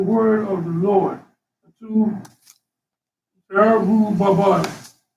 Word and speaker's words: Zerubbabel: Zerubbabel.